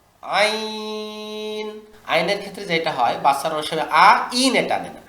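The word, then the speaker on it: عين: সদ জদ ত দ আইন আইনের ক্ষেত্রে যেটা হয় বাচ্চার আইনে টানেন আইন আইন না আইতে টান আইন ইয়া জবর আইন এই আইতে টান দিবেন আইন শেষে নুন সেকেন্ড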